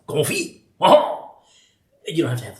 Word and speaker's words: confit: uh c o n fi T and it's pronounced Ki you don't have to have to laugh and